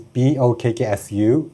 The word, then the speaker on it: Bokksu: Why don't you name your company Bokksu, which is Bokksu? It's the Japanese pronunciation of box.